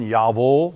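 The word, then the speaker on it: Jawohl: You've heard in German Yavul, but it's spelled with a J.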